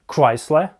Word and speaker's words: Chrysler: Chrysler — это Chrysler.